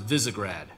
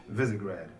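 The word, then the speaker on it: Visegrad: of characters brand new casting it's and it's pronounced visigrad visigrad okay we wanted voices that had character in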